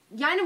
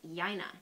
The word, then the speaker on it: Yina: Yina Moore, class of 1979, was elected mayor. It was a very close election, actually. Very close. And her name is pronounced Yina, not Yina, believe it or not.